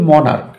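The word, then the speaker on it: monarch: না হয় চ তাহলে কি হবে যেমন যে মনার্ক মনাক শব্দটা শেষ সি এস থাকলেও এর উচ্চারণ কিন্তু ক এর মত হয়েছে সুতরাং এটাকে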